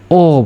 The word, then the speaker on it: ho: স এখানে ইতালি ভাষায় ও বুঝাবো। ও মানে কি? এইচ এর তো কোন উচ্চারণ হচ্ছে না। যার কারণে ও আমরা বলব ও লাভবুরাত।